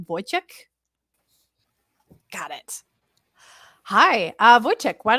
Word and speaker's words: Wojciech: Next, I would like to bring on our friend, and I'm going to pronounce this correctly, Wojciech.